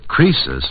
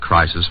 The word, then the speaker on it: Croesus: Croesus, not Croesus, was a rich king.